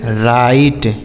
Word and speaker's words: right: तो अगर आई के साथ GHT लिखा हो, क्या लिखा हो मेरे भाई? आई के साथ GHT लिखा हो तभी हम इस आई का उच्चारण आई ही करेंगे।